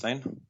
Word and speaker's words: Øystein: hear you pronounce it one time sure it's pronounced Ain excellent so I think you were pretty close